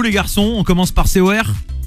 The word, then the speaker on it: C.O.R: Ils sont là, C-O-R, parce que je dis Cor, mais en vérité, ça se prononce C-O-R.